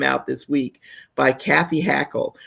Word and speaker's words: Hackl: this week by Kathy Hackle. Her last name is spelled Hackl.